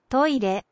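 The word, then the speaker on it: トイレ: I mean, you won't necessarily recognize them first off, because the Japanese pronunciations can be a little funky. See, toilet. Toilet.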